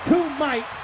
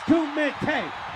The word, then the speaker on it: Kumite: goddamn podcast, it's not Coomite. It's not Coomite. It's Kumite. Coommitay.